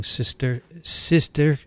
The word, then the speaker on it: cysticercus: The characteristics of the lesion on MRI may help to differentiate between a colloidal or viable and a degenerating cysticercus.